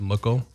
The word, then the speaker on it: MKO: And that's when I changed my alias to MKO, which is actually pronounced Muko. It's actually short for in Armenian.